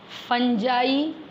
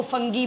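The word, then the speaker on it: fungi: क्या क्या है देखिए, बैक्टीरिया, ठीक है, प्रोटोजोआ, फंजाई, बहुत से लोग फंजाई को फंगी भी बोलते हैं, both the pronunciations are correct, चाहे आप फंजी बोलिए या फंजाई बोलिए, ठीक है।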